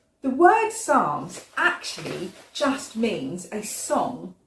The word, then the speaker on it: Psalms: It's got a silent p at the beginning, hasn't it? We don't say the p, otherwise we'd say psalms, and that sounds a bit funny. So we just say psalms instead.